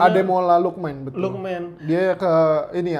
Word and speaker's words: Lookman: Apa sih bacanya? Ademola Lookman, betul.